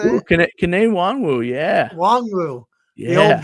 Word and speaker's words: Kene Nwangwu: Kene Nwangwu, yeah.